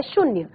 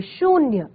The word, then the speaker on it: शून्य: दिया शून्य ठीक है बोलने से हमें लगेगा की इसमें छोटे यू की मात्रा है शून्य लेकिन अगर आप सही उच्चारण करेंगे शून्य तो आपका कौन सा स्वर ए रहा है बड़े यू का स्वर ए रहा है तो ये आपका सही शब्द है शून्य ठीक है इसी